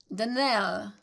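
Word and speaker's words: Donnell: would set it right denelle Accent on last syllable and St Clair on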